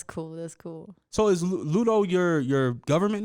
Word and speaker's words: Ludo: but people do tend to like just call me Luda. Like they get lazy and they don't like really pronounce it Ludo. They just say, "Hey, Luda."